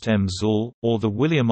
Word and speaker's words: EMSL: EMSL, pronounced EMSL, or the William R.